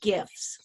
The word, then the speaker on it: GIF: I say GIF like Jif peanut butter.